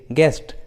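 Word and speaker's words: guest: के पहले रहता है, तब यू का उच्चारण नहीं करते, यू साइलेंट होता है, जैसे गेस्ट, गेस।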